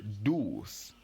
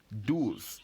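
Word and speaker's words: douze: o u gives us do's Do's so once again we don't pronounce the e at the end so once again how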